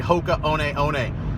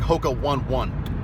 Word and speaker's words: Hoka One One: Mostly, it was actually Hoka One One. Hoka One One. It looks like Hoka 1-1, but it's a Hawaiian pronunciation.